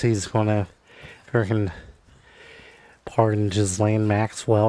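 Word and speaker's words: Ghislaine: going to freaking pardon Jizlane Maxwell or however you pronounce. I I believe it's Galain. Yeah, I've heard it pronounced Jizlane from all the time the internet today, guys.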